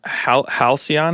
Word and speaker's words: halcyon: ask a question about it was halcyon is that how you pronounce it yes so halcyon as far